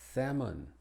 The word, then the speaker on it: salmon: Y es muda en algunas palabras, que son menos de 30 palabras, pero entre las más importantes están estas: ammon, calm, half, salmon, talk, and walk.